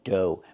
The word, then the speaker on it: dough: Pronunciation do. Make the long O like no and go. And the gh is silent.